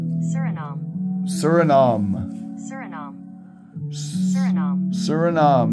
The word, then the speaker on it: Suriname: right suram pronunciation from the experts at the pronunciator suram suram surom Sur suram not not sh name